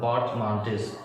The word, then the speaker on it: portmanteaus: इसको पोर्टमॉन्ट्यू आप पढ़ोगे, इसको मैं पोर्टमॉन्टिस पढ़ रहा हूँ, पोर्टमॉन्टिस। इसका सही प्रोनाउंसिएशन यही है।